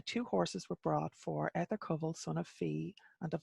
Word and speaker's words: Etarcumul: Etarcumul, I think is how I would pronounce that. It's probably different in Old Irish. You maybe would pronounce it Etarcumul, but my modern Irish brain puts a shevu in there, a H.